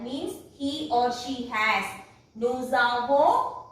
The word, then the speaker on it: nous avons: Nous avons. That means this S will be pronounced if it is followed by a vowel, and it will pronounce together.